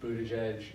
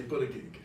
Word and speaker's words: Buttigieg: I still say Buttigieg. So you have to help me out on the name. It's Edge. That's it. Is how you're supposed to say it.